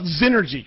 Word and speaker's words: Xnergy: for you so so first of all znergy correct yes okay so so because that's spelled with a with an X by the way Nails oh sure oh it's it's it's x n r g y it's an investment banking